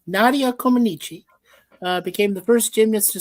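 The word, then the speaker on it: Comăneci: Comaneci. Comaneci.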